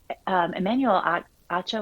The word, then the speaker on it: Emmanuel Acho: And Emmanuel Acho, I think is how you say his name.